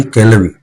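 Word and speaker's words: கிழவி: जिस मूवी का नाम है ताई केलवी। ताई केलवी करके है, इसकी स्पेलिंग अलग है, KEZVI करके स्पेलिंग है।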